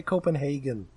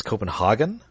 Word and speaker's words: Copenhagen: Oh, they mispronounce it in the show. They say Copenhagen. It's Copenhagen? I'm pretty sure it's Copenhagen.